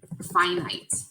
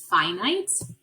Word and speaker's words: finite: that ends a number that ends we call finite ok some of you I'm probably are saying fin it is the first way you might think to pronounce it but it's pronounced finite and a number that goes on forever repeating